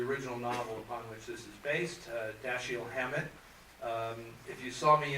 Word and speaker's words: Dashiell: everybody you know it's it's French the French Huguenots and it's like death shield Samuel death shield Haman